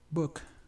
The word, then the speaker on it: book: palabra Book significa libro Book que por cierto no es una u como la que pronunciamos en español es una u más abierta o sea es Book libro parents significa padres esta